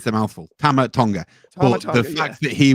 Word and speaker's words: Tama Tonga: Tammy Tonga. Oh yeah, he's phenomenal. He's phenomenal. I said his name wrong twice then, but it's a mouthful. Tama Tonga.